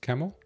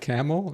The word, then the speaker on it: Kemal: Sorry, brother, your pronunciation name wrong. It's pronounced Kemal. Oh, Kamal. Oh, you're not like Jimmy Kimmel. Kamal, what's up, my brother Kamal? Not Camel?